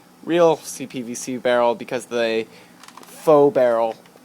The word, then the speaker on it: faux: CPVC barrel because the faux barrel. I prefer Fox, even though that's not pronounced correctly.